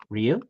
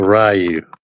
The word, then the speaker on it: Ryu: tell the people again how you say his name Ru yes it says it in the game yeah it's not rayu who says rayu a